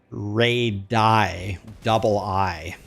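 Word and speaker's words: radii: I think actually both are both are acceptable, but I was taught in math class that it's ray di, but I think also radiuses is also valid.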